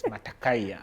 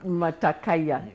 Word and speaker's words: Matakayia: so today we are i'm talking with matakayo have i pronounced your name correctly matakaya mata kaya matakaya then you're very welcome to the